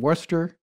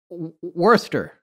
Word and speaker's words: Worcester: So Edward Kelly, or simply Kelly, was also known as Edward Talbot, and he was born in Worcester in August of 1555 and died in 1597 or 1598.